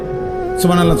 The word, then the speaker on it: সুবহানাল্লাহ: পরে এটারে মেশিনের মতো সুবহানাল্লাহ সুবহানাল্লাহ সুবহানাল্লাহ সুবহানাল্লাহ সুবহানাল্লাহ, কিচ্ছু হয় না। এটা হা উচ্চারণ না হলে তো তাসবিহ হয় নাই। শেষের গোল হাটা সাকিন করতে হবে এবং প্রত্যেকবারই নিঃশ্বাস ফেলতে হবে।